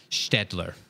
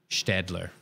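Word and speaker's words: Staedtler: Buddy's helping us with the pronunciation of Städtler. So it's more like feather or gather or bear. Städtler.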